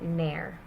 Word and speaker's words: ne'er: So with never, with that V being gone, you would actually just pronounce it ne'er.